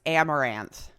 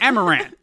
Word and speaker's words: Amouranth: I think it's pronounced Amaranth. Amaranth. That looks right. Amouranth, something like that.